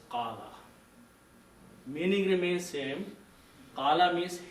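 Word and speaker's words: قال: So qawala is not the right word, but qawala comes out because of the rules of the grammar. But the right word is qala.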